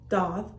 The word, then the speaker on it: daith: gonna be talking about my date or pronounced dot doth and my tragus um